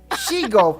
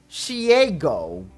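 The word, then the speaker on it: Shego: And this is all started with a meme because, according to her, she actually pronounced the character, one of the villain character, Shigo from the Kim Possible animated show as Shiego.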